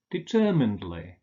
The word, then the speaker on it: determinedly: So if the main stress falls on the syllable that precedes the ed-ly ending, we say idly. Allegedly, markedly, confessedly, deservedly, supposedly, fixedly, advisedly. But with different stress, astonishedly, determinedly.